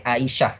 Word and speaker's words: Aisyah: angin yang kedua Hamzah Aisyah jangan bacanya Aisyah atau bacanya Aisah Aisah Aisah Aisah hai eh 18